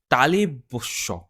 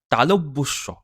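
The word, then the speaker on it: তালব্য শ: তারপর তারপর দেখুন তালেবস্য, তালব্যস্য, অ্যাকচুয়ালি উচ্চারণটা কিন্তু হবে তালব্যস্য। ঠিক আছে, তালব্য, যেহেতু তালু দিয়ে এই শটা উচ্চারণ হচ্ছে, এই জন্য উচ্চারণটা এরকম হবে তালব্যস্য।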